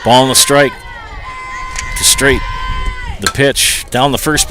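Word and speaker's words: Stejc: putouts for left fielder Avery Weinstock and Adeline straight the batter with two outs that's how you pronounce the name I will spell it st e JC pronounced straight good hitter here's the pitch right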